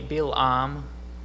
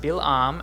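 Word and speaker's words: בִּלְעָם: at balaam's name so in hebrew it's actually bilam okay i forgot to put the transliteration up there uh so it's pronounced bilam and the first part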